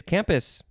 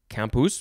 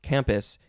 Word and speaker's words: campus: which means plain, and I do think that it is not pronounced campus in Latin. I think it is campus, just from the little bit of Latin rules that I remember from back in the day.